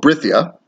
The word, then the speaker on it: Brythia: so here we go the people of britia and it's spelled b-r-y-t-h-i-i-a but uh it's the why is it it's like a it's like a more of a not only anglo-saxon but more of a welsh kind of thing where it is is